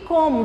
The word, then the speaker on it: cômodo: Menino, que cômodo. Você está muito cômodo nessa cadeira. Olha a pronúncia, o puxado. Cômodo. Chega, pesa o nariz, né?